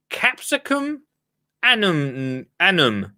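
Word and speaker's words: Capsicum annuum: Richard Sugget for this week's Latin word, capsicum annum. I think it's just annum. I think it's too. Let me spell it for you, for anyone, because I did get some questions yesterday.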